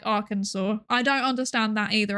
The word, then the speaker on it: Arkansas: I also don't understand ar I don't understand Kansas and Arkansas, which is spelled like R Kansas, but it is said like Arkansas.